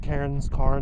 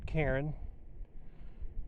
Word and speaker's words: cairn: It's like Karen without the attitude. Cairn, not Karen.